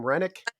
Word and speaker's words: Rennick: How do you pronounce the last name? Rennick.